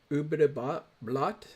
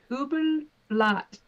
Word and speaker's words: Übelblatt: Ubedebot Blot? How do you say that? It's German. It's Übelblatt, which I didn't really pronounce correctly, but it translates to evil blade.